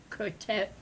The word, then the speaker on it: Krotoa: Is that how you pronounce it? Krotoa.